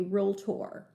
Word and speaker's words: realtor: to call yourself a realtor and make sure you're pronouncing it correctly everyone say it to yourself right now realtor only two syllables not three so this is what